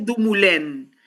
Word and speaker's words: Dumoulin: Dumoulin, Sí, se llama, porque es un autor francés, se pronuncia Dumoulin.